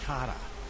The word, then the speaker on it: Kara: skulls garedrethel that's how she pronounces her name i was getting it wrong all the last time this my friends is cara now valkyries are volatile by nature but kara the lasses wild storm